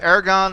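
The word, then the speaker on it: ἔργον: deal again basically with Aragon this is a neuter second declension that's the word for work Aragon air GU notice that the accent again stays on the first syllable all throughout the forms okay now for some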